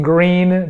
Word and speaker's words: Gruene: places do this in green there's tons of establishments antique stores and whatnot there are the green fill in the blank and it's spelled gur g g r u n e and same for house